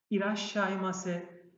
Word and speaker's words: いらっしゃいませ: İrashaimase. İrashaimase. Hoş geldin demek. Burada iki noktaya dikkat. Bir tanesi küçük su. Bakın çift ses yaptı. İrashaimase. Ra sesi ve şa sesinin arasında küçük bir su var. İrashaimase.